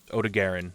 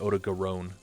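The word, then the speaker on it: Odogaron: captured ebony Odon success that's not how you say his name I said it correct OD Garin not Odon don't ever [ __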